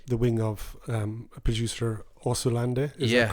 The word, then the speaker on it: Osunlade: Osunlade. Yeah, there you go. Yeah. How did you say it? Well, I think you pronounced it with a bit of a H in there. Osunlade. Osunlade.